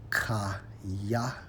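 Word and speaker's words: חָיָה: When you focus on revive, according to the Hebrew, Strong's H2421, pronounced as kaya, kaya, which means to live, have life, remain alive.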